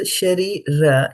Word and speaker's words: śarīra: So śarīra, you have to pronounce the A a little bit here.